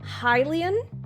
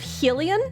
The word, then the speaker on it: Hylian: Wild came out and I learned that it was um Hilian instead of Helen which is how how I had always been pronouncing like I understood that